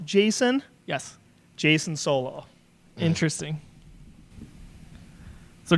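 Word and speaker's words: Jacen: pronounced Jason?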